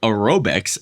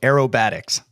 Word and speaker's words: aerobatics: so appreciate both those I'm not one to correct I will say it's pronounced though aerobatics oh sorry sorry yeah